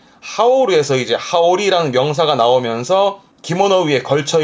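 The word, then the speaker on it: 羽織: 보통 기모노 위에 이렇게 걸쳐 입다라는 걸 하오르, 자켓도 하오르, 자켓을 걸쳐 입거나 그 걸쳐 입다를 하오르 하면서 요렇게 된 발음은 하오르에서 이제 하오리라는 명사가 나오면서 기모노 위에 걸쳐 입는 이 겉옷을 하오리라는 표현을 씁니다.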